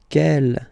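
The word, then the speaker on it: quel: And the good news is that you will pronounce them the same way. All right. So kel kel kel and ke.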